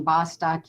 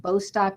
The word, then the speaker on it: Bostock: uh he pronounces his the plaintiff lead plaintiff pronounces his last name bostock you've probably heard it pronounced bostock as well which is probably possibly the more common pronunciation so i wanted